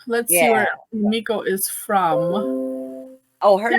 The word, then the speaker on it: Emiko: Kalanchoe, and her name is Emiko, not Emiko. Emiko. Let's see where Emiko is from.